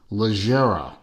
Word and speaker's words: Leggera: And I am pronouncing Leggera correctly because, being a car nut, I know of, and if you are a car nut too, then you may also know of the Lamborghini Super Leggera lines, which are Leggera is